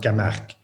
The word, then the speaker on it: Camargue: well in english you would say it's actually pronounced kamach because it's uh it's a place in the